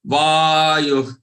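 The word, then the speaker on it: वायुः: Nalo vayuh, vayuh. The way to pronounce this visarg here is like ha. We have seen it earlier also. What they call it as prashwas.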